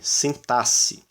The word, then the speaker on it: sintaxe: de origem Latina muita a gente eh acaba pronunciando sintaxe como se isso aqui fosse dois fonemas essa letra representasse dois fonemas na verdade é o fonema C sintasse E aí a gente